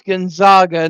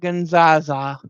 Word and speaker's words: Gonzaga: It's Gonzaga, not Gonzaza.